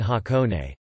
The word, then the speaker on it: 箱根: However, the majority of Japanese place names are read with kunyomi: Daban Osaka, Chingsen Aomori, Shangzhen Hakone.